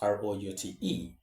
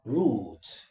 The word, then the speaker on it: route: The first is root. Root while the other pronunciation is route. Root is a standard English pronunciation, right? British pronunciation.